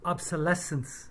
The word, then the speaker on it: obsolescence: lots of trouble um obsolescence is how you say it from obsolete meaning no longer used she mangled that word